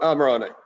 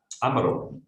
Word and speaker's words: Amarone: So Amarone. Amarone, wow.